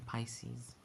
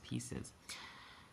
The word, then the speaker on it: Pisces: Rest in Pisces. Which I used to pronounce pieces.